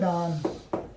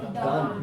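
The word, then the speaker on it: darn: तो रफू करना होता है डान, यान नहीं बोला, डान, डी ए आर एन, डान। Are silent हो गया ना, क्यों इससे पहले बाद में आ रहा है डान। हाँ दान कर लो इसको, डा, डी का साउंड ड आता है, दा नहीं आता, डान, रफू करना।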